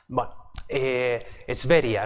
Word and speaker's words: Sverige: de pasajeros y Sverige, ¿no? Como se pronuncia más o menos en sueco, o en ese sentido suena, ¿no?